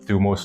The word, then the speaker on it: thumos: a smart guy because I pronounce it thumos like in the ancient Greek and that is basically